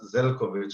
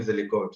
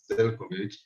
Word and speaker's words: Zelkovic: I just pronounced my second name, my family name is Zelkovic. Everyone call me Zelikovic, it's okay, but I pronounce it as Zelkovic.